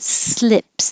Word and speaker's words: slip: the vowel is so if you say sleeps e the tongue will be really high like the difference between well now i need it to be bigger how did this get so small um okay e like eat oh there is sleep and i is slip so if your slip sounds like sleep your tongue is too high sleep slip sleep slip